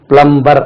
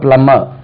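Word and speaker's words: plumber: போட்டு இருக்காங்க பிளம்பிங் office பிளம்பிங் work under taken பிளம்பர் அப்படின்னு தமிழ்ல எழுதி போட்டு இருக்காங்க பிளம்பர் என்று உச்சரி பிளம்மர் ரைட் பிளம்மர் ரைட் இனி மறக்காதுன்னு நினைக்கிறேன் சும்மா தைரியமா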